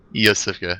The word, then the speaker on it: Yosefka: Yosefka, yeah. I had to look up pronunciation.